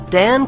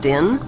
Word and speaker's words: Dan: Since vowels were interchangeable in the original Hebrew language, Dan could be pronounced Din, Don, or Den.